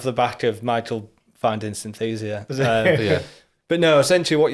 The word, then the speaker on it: Synthesia: I don't want to mispronounce it. My AI girlfriend. No. It's a different episode, Yeah. I think, there. Sensia, was there something? Oh, Synthesia.